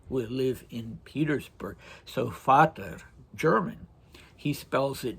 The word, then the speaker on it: Vater: So, Vater, German, he spells it v a t e r um instead of it would be pronounced in German with an f sound instead of a v sound.